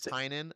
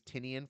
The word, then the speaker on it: Tynan: it's pronounced it's pronounced I've seen it it's pronounced James sign in I I had said it James tinian for so long and seeing people yeah I